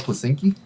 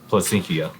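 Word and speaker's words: Placencia: What'd you call it, Placinki? Placentia. How do you say it? Exactly like that.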